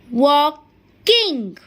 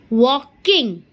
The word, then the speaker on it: walking: WALKING. Is that clear? But when we pronounce this word, the letter L is silent.